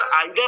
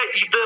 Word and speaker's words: either: इसका प्रोनाउंसिएशन हम दो प्रकार से कर सकते हैं। तो यहाँ कंफ्यूज नहीं होना है हमको कि सर आइदर अलग होता है या ईदर अलग होता है। प्रोनाउंसिएशन दोनों का थोड़ा सा डिफरेंस है। हम आइदर भी पढ़ेंगे तब भी करेक्ट है और ईदर भी पढ़ेंगे तब भी वो क्या है? करेक्ट है।